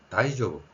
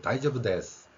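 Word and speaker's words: 大丈夫: 자, 이게 다이조브 다이조브라고 발음을 하는데 어,이 발음이 다이저브스 이런 표현도 많이 듣지요.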